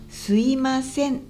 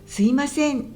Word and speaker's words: すいません: 関西弁だとすいませんじゃなくてすいませんというイントネーションになります。